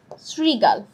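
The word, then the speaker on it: শৃগাল: আছে সেখানে বলা আছে শ্রীগাল শব্দের উচ্চারণটা কি হবে দেখো উচ্চারণটা দেখলেই কিন্তু বুঝার কথা যেটা উত্তরটা কি শ্রীগাল দন্তসের মত উচ্চারণ হচ্ছে দন্ত স্মরণ শব্দের সঠিক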